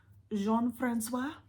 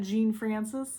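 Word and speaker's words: Jean-François: she was related to jean-francois I believe that's how it's pronounced not Gene Francis I believe it's Jean Francois oh John Francois oh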